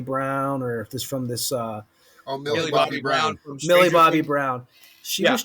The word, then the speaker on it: Millie Bobby Brown: I was telling Ed, and I always get the name wrong from that show. Miley Brown. What is it, Ed? Miley Brown, or this from this? Millie Bobby Brown.